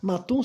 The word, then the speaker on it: Mattoon: Matum se escreve Mattoon, né?